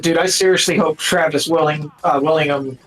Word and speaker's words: Willingham: I said, dude, I seriously hope Travis Willingham, how do you say his last Willingham.